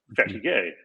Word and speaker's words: fatigue: And the French word for tired is like our word fatigue. But it's pronounced fatigue.